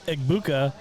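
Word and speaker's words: Egbuka: How do you say it? He It's Eggbuka.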